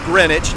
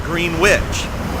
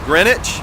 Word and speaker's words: Greenwich: on my staff that the correct pronunciation is greenwich not green witch even though it's spelled green witch so we now know it is greenwich and that's where i